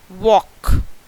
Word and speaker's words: walk: So next word is walk. Again it is rhyming with talk. And which letter is silent? Yes children, it is L. L is silent.